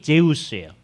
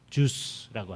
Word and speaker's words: 제우스: 제일 중요한 신이 제우스예요. 주스라고 하는. 제우스인데 이제 서양 사람들이 발음하면 주스 이렇게 되니까 그래서 우리말 성경에 스스라고 표현돼 있죠.